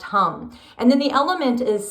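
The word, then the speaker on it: ham: The seed sound is spelled H-A-M, but it's pronounced hum.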